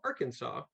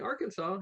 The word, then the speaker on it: Arkansas: came down here well we got that silent s that's right there was supposedly going to be a war between Arkansas and Kansas over the